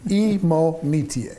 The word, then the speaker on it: Imonitie: uh in this conversation his name is david imo netier and i just because i've heard it pronounced five different time five different ways right he finally corrected me and well educated me emo metier you got it and uh he's a phenomenally